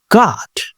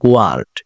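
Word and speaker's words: guard: গার্ড, প্রহরী, দেখুন আমি কিন্তু এখানে বলছি না গোয়ার্ড, এরকম কিছু বলছি না।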